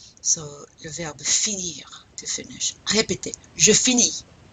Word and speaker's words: finis: So le verbe finir, to finish. Répétez, je finis. You pronounce that S? No.